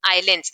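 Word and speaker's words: islands: क्या बोलते हैं इनको आइलैंड्स इसमें एस साइलेंट होता है ठीक इफ यू हैव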